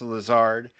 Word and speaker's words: Lazard: of the company, uh Lazard or Lazard. I'm sure it's Lazard.